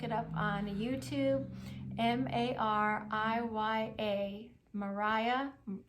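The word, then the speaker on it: Mariya: up on YouTube m-a-r-i-y-a Mariah it looks like Mariah but it's Maria Maria's story from mess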